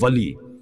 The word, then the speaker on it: Wali: 3 letters come together to make the word Wali. It even rhymes with Ali.